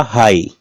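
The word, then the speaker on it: high: होगा जीएच silent होगा यह देखिएगा हाई लास्ट में जीएच है जी एच का उच्चारण नहीं हुआ क्या हुआ हाई इसमें देखिएगा टोट टोट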